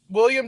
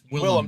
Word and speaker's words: Willem: But William Dafoe made that movie for me. I thought it was just stupid action flick until William Dafoe appeared. Sorry, Willem Dafoe. Not William.